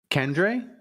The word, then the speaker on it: Kendre: to be your pick you have to say his name correctly kendre Kendra there you go there you go k